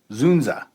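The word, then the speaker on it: Dzundza: inner city school at stars Michelle Pfeiffer George zunda zunza zunza yes that's how you pronounce his name okay and Courtney B Vance uh it was released August 11 1995.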